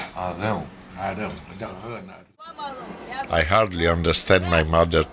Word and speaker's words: Arão: Aaron with a guttural R. R. Arau. Arau. O nome é Arau. Arão.